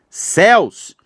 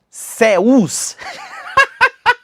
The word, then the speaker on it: céus: Oxítona parou. Só você faz isso aqui. Cúus. A pessoa, né, aprendeu a separar a sílaba batendo palma. Aí ela céus, não faz isso com Elias, não. Essa palavra aqui, ela é monossílaba.